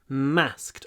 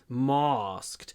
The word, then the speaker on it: masked: Pronunciation, nice long m, masked. Or southern pronunciation, masked.